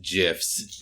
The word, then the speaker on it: gifs: weight gifts or like no Ruby it is pronounced gifs the office Jess and